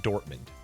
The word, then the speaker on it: Dortmund: Pronounced like pronounced like it looks Dortmund.